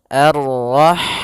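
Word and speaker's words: الرَّحْمٰن: Arrahman allamal Quran pada bacaan arrahman. Di sini ada alif lam syamsiyah yaitu alif lam yang ditulis tapi ia tidak dibaca sehingga kita langsung masuk ke huruf ro a.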